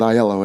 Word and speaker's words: Aiello: like the food, and it's basically because it rhymes with Aiello. Everyone enjoyed saying, hello, Jell-O, Aiello.